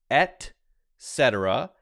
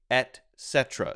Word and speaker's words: et cetera: because it's kind of a tongue twister it's pronounced et cetera and you could say et cetera so you hear people say correctly etc and